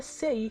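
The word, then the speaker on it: שעיר: o irmão dele e ela não original se pronuncia sair bom então olha essa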